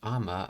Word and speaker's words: 雨: Oh, it's pronounced ama. Okay. Amamizu. Meanwhile, by itself, it's just ame.